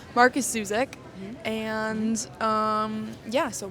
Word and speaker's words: Markus: So this week we read well yeah we read the book thief by Mark Zuzek Zuzac Marcus Marcus oh I completely wrong Marcus Zuzac and um yeah so basically this book